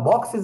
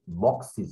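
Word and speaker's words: boxes: দ্য বক্সিস R heavy, very heavy, হ্যাঁ বক্সিস, দেখো last x আছে। দ্য গ্লাসিস আর ব্রোকেন, দেখো উচ্চারণটা কিন্তু বক্সিস হবে, আমরা যদিও বলি বক্সেস, অনেকে বলে বক্সিস গ্লাসেস, না গ্লাসিস, বক্সিস গ্লাসিস।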